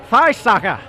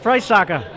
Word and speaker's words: Friesacher: Hey, Drivetribe, Migz here, and I'm with Patrick Friesacher. Hey, how are you? Is that how you pronounce it? Yeah, that's right. Hey, Drivetribe. Migz here, and I'm with Patrick Friesacher.